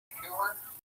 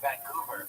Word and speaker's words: Vancouver: I've heard of Vancouver, but never Vancouver. What have you heard of? Vancouver. What did I say? Vancouver. You put the wrong emphasis on the wrong syllable.